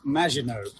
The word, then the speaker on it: Maginot: It's pronounced Maginot.